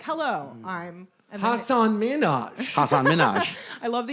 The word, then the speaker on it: Hasan Minhaj: no Aparna nonchalant like every comedian still says Hasan Minhaj when it's Hasan Minhaj it's like how he pronounced I can't if you're gonna be a